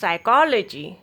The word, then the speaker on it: psychology: Rule of silent letter P is if a words begin with PS or PN, then letter P will be silent. Pseudoscience, psychiatrist, psychology, psychotherapy, psychologist, pseudo, psychic, psychotic, pneumonia.